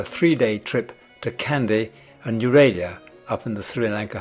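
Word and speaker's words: Nuwara Eliya: To overcome disappointment about the sea, we quickly sign up for a 3-day trip to Kandy and Euralia up in the Sri Lanka highlands.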